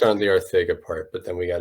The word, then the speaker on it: Arcega: JJAW has stated his name is pronounced Arthega.